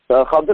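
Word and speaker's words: খিদর: যেমন ভাবে দলিল হিসাবে পেশ করা হয় খদর আলাইহিস সালাম, যদিও আমরা তার নাম খিজির আলাইহিস সালাম বলি, বিশুদ্ধ উচ্চারণ হচ্ছে খদর আলাইহিস সালাম।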